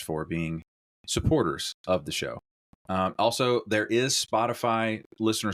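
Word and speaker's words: Szosok: o k cool but that's pronounced like an sh in English showu cool yes uh Maggie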